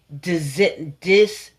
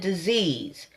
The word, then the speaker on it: dis-ease: or what the true dis-ease is? And I'm going to say that again, so I'm going to spell it so you'll know exactly. I'm not saying disease. I'm saying dis-ease.